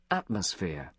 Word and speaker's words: atmosphere: atmosphere, Observe que a sílaba tônica está na primeira sílaba, ó. Atmosphere, ó. atmosphere, Atmosphere. Atmosphere. Atmosphere. E aqui é um F. Esse PH você fala com F mesmo. Não tem aquele TH da língua dos dentes, não.